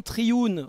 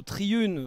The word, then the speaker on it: Triune: je le disais d'ailleurs le nom Triune ou Triune ou triuné vous prononcez comme vous voulez ça vient de three in one alors il y